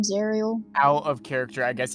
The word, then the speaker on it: Zariel: Zerial? Zariel. Zariel. Or Like, how you... Listen, that's me being dumb and not being able to pronounce words. That's me fucking up his name. It's Zariel. I need to remind myself.